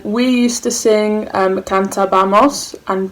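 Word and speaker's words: cantábamos: used to sing um kanta bamos and be careful there was an accent on the first a of the abamos you plural used to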